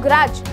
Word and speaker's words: grudge: बोला प्लेज, तो यहाँ पे D हो गया साइलेंट। ऐसे ही मैं बोलूँ ग्रज, GRUDGE, तो यहाँ पर भी D आ गया साइलेंट क्योंकि D और G हमारा इकट्ठा आ रखा है।